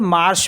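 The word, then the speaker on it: marchent: एच ई एन टी इसको हम केवल मार्स पढ़े ई एनटी साइलेंट हो जाता है तो ये एक वर्ब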